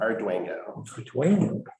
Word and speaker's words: Arduengo: Arduengo. Arduengo. It is pronounced exactly how it's spelled.